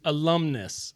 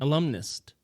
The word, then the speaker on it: alumnus: you how to job alumnus a l u m n u s that's not what you were saying alumnist okay alumnist not the same thing was that saying with the T yes oh yeah you had it with a t oh well I didn't